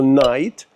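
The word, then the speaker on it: knight: Це слово Night, яке, ви знаєте, як ніч. Нікти пишеться, да? Але додаючи букву K, хоча вона і не буде читатися, також залишається вимовлення night, але утворюється слово лицар.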